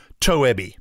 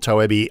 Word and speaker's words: Toebbe: Diana tobby now it's it's spelled tobby t o e BB e but I think it's German so it's probably but no one knows in fact pretty much everybody called toab on the planet cuz yes I